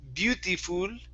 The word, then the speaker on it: beautiful: one here instead of beautiful okay it's uh so relax your mouth a little bit okay you're pushing too hard on those vowel sounds so it's be Bea beautiful nice and lazy okay Beauty beautiful beautiful